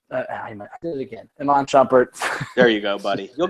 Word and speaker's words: Iman Shumpert: We know that we're missing Iman Shumpert. I did it again. Iman Shumpert.